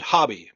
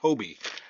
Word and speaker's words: Hobbii: anybody shops at Hobby Hobie hobby I always pronounced it hobby but then I watched a video of someone from the actual company saying Hobie so now I pronounce it Hobie whatever but anyways anybody that shops at Hobie